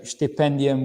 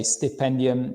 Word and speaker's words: Stipendium: program, we say Stipendium, we say Stipendium. It doesn't matter. In Hungary, you'll find out when you come and study here that the S is pronounced as a sh sound. So that's why I have a habit of saying Stipendium Hungaricum.